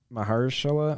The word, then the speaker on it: Mahershala: Mahershala, I think is how you pronounce it. Mahershala, yeah.